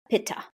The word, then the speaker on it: pitta: with some water and here in the west you might pronounce that paa so a btha person